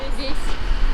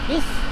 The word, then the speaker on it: весь: Извините, может сказать, как произносится это слово? Который? Это, да. Вот это? Да. Все. Се? Все. Се. И это? Весь. Бис?